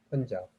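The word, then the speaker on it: Punjab: 펀잡. 여기서 보면 영어로 펀잡이라고 읽습니다. 왜냐하면 쓰기는 판잡이라고 읽지만 아까 말한 대로 그냥 아는 어로 발음이 나오기 때문에 펀잡으로 읽는다는 것을 어학적인 거지만 말씀을 드립니다.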